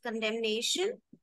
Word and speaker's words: condemnation: Condemn doesn't have the sound of N at the end, but condemnation, then N.